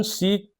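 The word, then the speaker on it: sec: जैसे question number 5 में दिया है, गिवन सीक थीटा। मैं सेक को कभी सीक बोलूंगा, कभी सेक बोलूंगा, क्योंकि इसके प्रोनाउंसिएशन इसी तरह से है।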